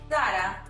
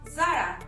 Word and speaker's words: Zara: In Spain, the letter Z, is pronounced as "Z". That's why we say Zara instead of Sara.